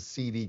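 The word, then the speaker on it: Cede: and they got a holding company called Seed Corporation. They say, some people pronounce it CD Corporation, but it's a holding company.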